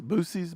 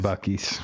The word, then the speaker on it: Buc-ee's: uh, How's that pronounced? Buc-ee's? Boosies? Butchies? Boochies? it's definitely Buc-ee's.